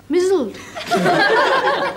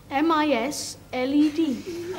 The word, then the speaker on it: misled: there were they wanted McBeth to be what mled mled what sort of language is that supposed